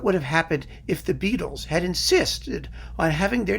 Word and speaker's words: Beatles: Think of what would have happened if the Beatles had insisted on having their name pronounced Beatles with their Liverpudlian accent.